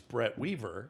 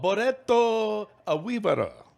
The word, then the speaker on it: Brett Weaver: what is your name and i say my name's brett weaver yes and they say oh boretto a weaver and swear to god that's how they say it yeah hey i believe